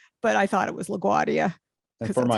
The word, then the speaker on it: LaGuardia: I didn't know that only she was dropping the R's. I thought that was the way you were supposed to pronounce it, like croissant, doesn't have a T at the end or something. I just thought that doesn't have the R.